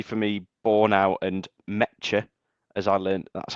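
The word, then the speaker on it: Nmecha: me, Borne out and Meta, as I learned, that's how you say his name today. Don't say the N, it's silent.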